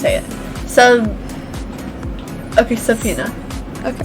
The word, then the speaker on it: subpoena: do you say it tell me how to pronounce it so okay subpoena okay subpoena okay so the corona revived pandemic has threat